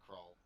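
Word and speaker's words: Krull: Was it pronounced like crawl or spelled like crawl? K-R-U-L-L. Kroll. Kroll.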